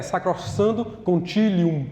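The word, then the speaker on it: Sacrosanctum Concilium: O Concílio Vaticano II, um documento chamado Sacrossanto, a pronúncia certa é sacrossando conilium, né?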